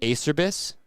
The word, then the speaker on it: Acerbis: What gets me cooking, no pun intended, is when I hear industry people pronounce a Cherubies incorrectly. I've heard acerbis, acerbis, a cherbis.